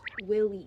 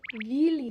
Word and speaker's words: vili: In the ballet, people call the ghosts willies. It's just a really bad pronunciation of the Slavic word vili.